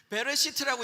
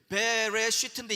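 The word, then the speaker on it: בְּרֵאשִׁית: 이게 히브리어로 제가 미리 써놨는데 시간 줄이려고 레쉬 트 이렇게 읽어요. 히브리어는 이렇게 읽으니까 트쉬레베 이렇게 읽지 마세요. 베레시트라고 읽는데 베레시트인데 이게 여러분이 알고 있는 영어로 말하면 in the beginning, 우리나라 말로 하면 태초에란 단어예요.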